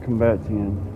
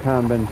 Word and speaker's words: combatant: Expert combatian. An expert combatant. That's the proper way to say it.